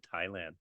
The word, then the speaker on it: Thailand: the H is silent in Thailand.